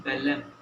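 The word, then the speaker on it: Belém: मनास ये फेमस है गोल्ड के लिए, और ये है बेलम, BELEM, ठीक है। ये बेलम जो है आपका बिल्कुल यहाँ पे पड़ेगा, और बेलम फेमस है मैंगनीज के लिए।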